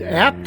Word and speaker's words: ABT: probably don't know about ABT pronounced as at it's a family run